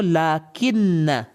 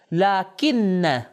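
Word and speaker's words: لٰكِنَّ: تلفظ میں تھوڑا سا فرق ہے. ہم توجہ کریں. پہلا ورڈ ہے وہ لاکن، تشدید کے ساتھ، شدہ کے ساتھ، لاکن.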